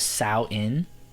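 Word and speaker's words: Samhain: was it called it's it's spelled s-a-m-h-a-i-n but i think it was sao inn is what they called it it wasn't called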